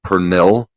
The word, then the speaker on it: pernil: uh pronounce it um i want to pronounce it phonetically it's pernil p-r-n-i-l it is a puerto rican-style pork